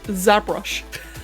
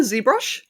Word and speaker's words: ZBrush: not that's okay or like how i a degenerate would pronounce it zabrush this is a brush that brush i don't know that kind of rolls off the tongue a little bit i prefer zbrush but i don't think